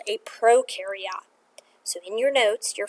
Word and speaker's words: prokaryote: the blank next to prokaryote cell. Okay? Sometimes people call it prokaryote as well. But I remember this pro rhymes with no, so these guys have no nucleus.